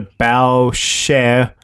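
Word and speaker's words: Boucher: pronounced close to the bow share first part like the front of a ship and the second part like the singer share yeah it's interesting John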